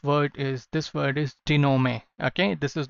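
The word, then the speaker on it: dénouement: say what this word is this word is dinome okay this is not denoment it is genome okay what does this word mean they know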